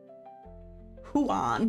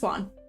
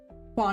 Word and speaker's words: Juan: Juan. Huan. No, I'm joking. It is. So, it's Juan. Juan is correct.